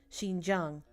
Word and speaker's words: Xinjiang: This place was This place was South Xinjiang. Oh, thank you. Well, I'm glad that I pronounced it right.